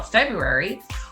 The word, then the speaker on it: February: you how we spell february what is the tricky letter in february what's the hidden letter that we can't always hear yeah some of